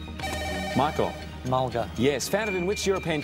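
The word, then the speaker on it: mulga: want Australian acacia voice rhymes with vulgar Michael Mulder yes founded in which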